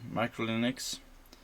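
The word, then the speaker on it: uClinux: And it runs on UC Linux, and which is pronounced Micro Linux, and it's booting up with U-boot.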